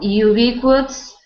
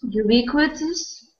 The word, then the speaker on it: ubiquitous: Ubiquitous. Yep, that's a funny word. It's ubiquitous. Ubiquitous, yes. So not UB, but ubiquitous. Ubiquitous.